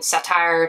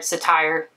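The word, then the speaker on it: Cittire: so this i bought from satire satire the one that's spelled c-i-t-t-i-r-e and it was 273.96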